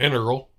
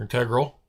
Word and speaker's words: integral: Um, it looks like it's an integral or integral. I say it both ways every time because depending on how you say it in a sentence.